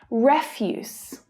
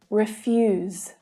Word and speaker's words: refuse: station so that they can record your details refuse and refuse refuse and refuse peter runs a business that